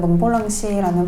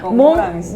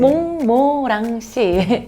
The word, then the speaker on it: 몽모랑시: 그러니까 몽모랑시. 어렵죠? 발음이 몽모랑시. 몽모랑시. 네, 여러분 기억하세요. 몽모랑시.